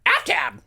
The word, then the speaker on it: Aftab: You have to say it like the duck. Aftab.